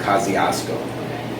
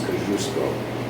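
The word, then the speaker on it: Kościuszko: places they call them Kosciusko but the correct polish way to pronounce it is confusable and so he was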